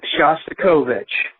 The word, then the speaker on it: Shostakovich: And I believe the way you pronounce the name of the composer that you mentioned is Shostakovich.